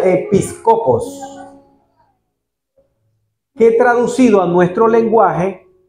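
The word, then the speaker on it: ἐπίσκοπος: mete aparece etimológicamente que proviene del griego y que se pronuncia episcopos que traducido a nuestro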